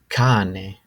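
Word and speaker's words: cane: a pitbull and the word for this is Kane dog next I felt that this was important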